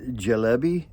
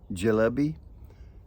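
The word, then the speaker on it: Çelebi: it in Turkey because the C is pronounced with the J so I'm going to call it jalbi c e l e b i e jby cby cuz I have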